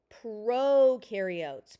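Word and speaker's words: prokaryote: Proarotes pro rhymes with no pro no.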